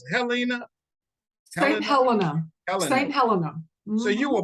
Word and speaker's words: St. Helena: How you pronounce it? Helena? St. Helena.